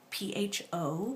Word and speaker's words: pho: I had some pho, P-H-O, pronounced pho, in case you didn't know.